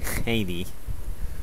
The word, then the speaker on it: Hades: Sí, Hades. Así se pronuncia en inglés.